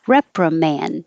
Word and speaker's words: reprimand: You don't have to say duh at the end. I put that little mark there and I didn't do it. Reprimand. It will sound like man.